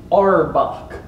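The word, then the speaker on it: Arbok: the side of it it says the USS our buck like that pronounced like the Pokemon dude who ever owned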